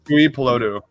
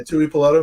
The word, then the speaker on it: Tuipulotu: Tuipulotu. Yeah, Tuipulotu.